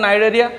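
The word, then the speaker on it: Cnidaria: नाइडेरिया। ध्यान देना, नाइडेरिया जो हम लिख रहे हैं पहले सी होगा, पहले क्या होगा? सी होगा, लेकिन जो आपका स्पेलिंग का जो हम जो प्रोनाउंसिएशन कर रहे हैं एन से कर रहे हैं, ठीक है।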